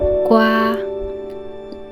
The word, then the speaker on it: gua: So the combination of G, A, I is ge, I, gai, ge, I, gai, ge, ao, gao, ge, wa, gua.